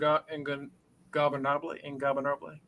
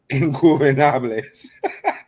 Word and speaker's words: Ingobernables: We saw Blake Christian and AR Fox beat La Faction and Ingobernable. I can never say it right. Ingobernables. Ingobernables. Thank you.